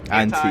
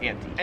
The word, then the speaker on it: anti: Americans, hard I, long I, whatever you want to say. Anti, yeah. Australians, anti.